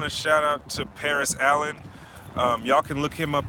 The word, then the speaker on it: Alleyne: I want to shout out to Paris Allen. Y'all can look him up on Paris Allen Art on Facebook, and that's Allen spelled like ALLEYNE. Yeah, Paris spelled just like Paris, France, and Allen's ALLEYNE Art.